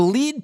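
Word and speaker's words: lede: Then it's lead, L-E-D-E. You misspelled lead. No, I didn't misspell lead. Like, L-E-D-E is a journalist term. And it's a very specific journalist term.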